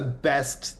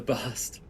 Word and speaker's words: bast: intentionally mispronounced that, and I'm like, I'm pretty sure that's a best there, the best fibers. No, man, bast Bast. fibers. Bast. What are Bast. bast fibers? You know, they're the best. They're the bast.